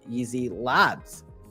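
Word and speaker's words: YZi Labs: elang Returns the lead easy labs and it's pronounced as easy Labs even though it's like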